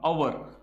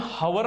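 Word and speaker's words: hour: स्वराचा उच्चार सुरुवातीला आला, जसं की अवर, तरी ते आपण हावर नाही बोलत, हावर नाही बोलत, आपण बोलतो अवर, अचा उच्चार करतो.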